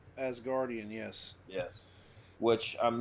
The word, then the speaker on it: Asgardian: Did I pronounce that correctly? Asgardian, yes.